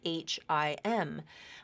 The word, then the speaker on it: him: reading English him is always spelled h i m but if you're listening to the native speaker and listening to what they're saying lots of times they're going to drop that H and just pronounce it as M um give them a